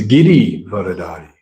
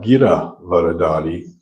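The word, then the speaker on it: गिरिधारी: It's Giri Varadari. Giri Varadari, the holder of Govardhan Hill. That's Krishna, not Gira Varadari, the holder of speech.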